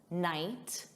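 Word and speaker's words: knight: Just like night, a night, silent K, knit, silent K.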